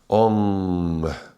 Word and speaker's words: Ong: Ong. Ong, without closing of the lips and with this little G at the very end.